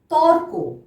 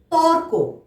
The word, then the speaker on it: তর্ক: কয়ের মাথায় রেফ আছে, তাহলে তার আগে আমরা র উচ্চারণ করব। ত কয় রেফ, তর্ক। তর্ক।